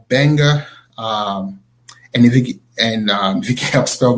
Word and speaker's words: Gbenga: so my website it's Benga anything and he can't stop my name I'll start with eg and his sons it sounds the pronunciation start with a B but you know writing